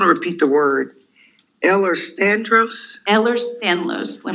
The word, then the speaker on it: Ehlers-Danlos: And can you say it slow so I can try to spell it? Absolutely. We'll take the advantage of expanding awareness to the Ehlers-Danlos syndromes.